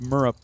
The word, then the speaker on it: Murup: And then uh one day I guess he went up to Mike Emmes and said, "Oh, by the way, it's pronounced murup like syrup."